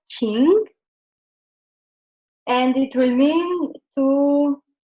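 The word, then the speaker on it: 情: And with heart, it will get the second tone, so it will be pronounced as Qing, and it will mean to feel, like feeling, emotion.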